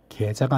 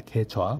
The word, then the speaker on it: 계좌: 계좌 개좌 계좌가 아니라 개좌 발음이 어 조심해 합니다.